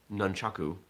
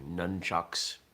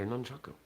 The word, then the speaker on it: nunchaku: with something how is nunchuck ooh pronounced why is it so frequently mispronounced so I pronounce it you know based on my understanding of the Japanese term I'm shocked ooh I've